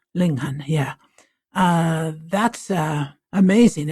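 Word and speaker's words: Linghun: history, but an incredible book is do you pronounce it? Linghan. Linghan.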